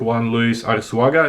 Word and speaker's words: Juan Luis Arsuaga: suggestions put forward with another scholar, another scientist, Juan Luis Arsuaga, if that's how I pronounce it.